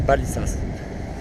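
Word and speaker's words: Valizas: Ça s'écrit Valissas, mais je crois que ça se prononce Balissas.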